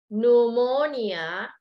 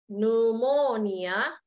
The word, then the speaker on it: pneumonia: sentence now let's see pneumonia pneumonia okay the p is silent P it looks like